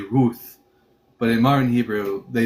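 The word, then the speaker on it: רות: They just pronounce as a hard t root.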